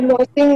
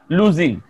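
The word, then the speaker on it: losing: পড়ো পড়ো পড়ো তারপর পড়ো chips people R লসিং there কাস্টমারস in urban population আমাদের উচ্চারণটা is very important gypsy people R লসিং না লুজিং বলো লুজিং লুজিং সবাই বলো লুজিং লুজিং লুজার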